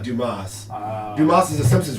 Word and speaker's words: Dumas: Dumas. It's from the pronounced Dumas.